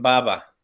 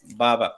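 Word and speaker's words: بابا: Aquí nomás, Juliet, y me corrige si me equivoco, en árabe no existe la P de papá. Entonces, para decirle papá le dicen baba, baba, porque no existe el Sí.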